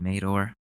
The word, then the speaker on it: Madore: It's pronounced Mador on Twitter.